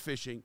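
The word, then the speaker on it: phishing: h i n g and it is it's pronounced fishing didn't you just say you just learned this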